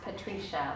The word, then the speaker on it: Patricia: It's spelled like Patricia, but pronounced Patricia. Like I always do the tree there's a tree in there.